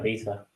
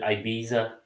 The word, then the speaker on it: Ibiza: Americans pronounce it Ibiza, isn't it? Ibiza. It's Ibiza. A P Diddy photo or That's in Spain. Ibiza's in Spain. It is, yes. But it's Ibiza, Brad, not Ibiza.